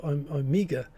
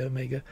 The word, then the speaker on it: Omega: So Omega, a very New Zealand way of pronouncing it. I've been away for too long. I would say Omega.